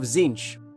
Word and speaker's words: Tzeentch: In 40k, it is a Mark of Tzeentch, spelt with a T, pronounced with a Z.